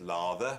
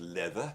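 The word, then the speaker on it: Läther: which is called leather I know it says lather but it's pronounced leather it's got the O over the Ed here if you buy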